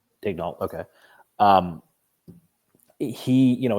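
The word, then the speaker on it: Daigneault: the Pod but um it's Dan Yol right that's how you pronounce uh the Oklahoma City coach's name Daniel or is it Daniel digal yeah digal okay um he you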